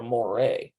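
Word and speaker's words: מוֹרֶה: man teacher you're a moray okay see notice the subtle different sound at the end it's like a uh for masculine ah for feminine in Hebrew but in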